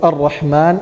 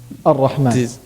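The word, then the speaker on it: الرحمن: Ar-Rahman. Hamzat al-Wasl. Hamza al-Wasl. Good. Hamzat al-Wasl. So, is it always pronounced? No. No, it's not always pronounced. It is only pronounced if we start with it.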